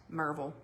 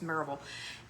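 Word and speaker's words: Maryville: And it is pronounced Marvel. Bite me. It is. It's Marville.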